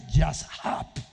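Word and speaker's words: יָשַׁב: La palabra habitar que aparece allí es una palabra hebrea que se pronuncia yashab.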